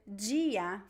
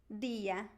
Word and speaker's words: dia: in his seaface specifically people pronounce the t and the d in a different way from the other areas uh so the word gia for instance this is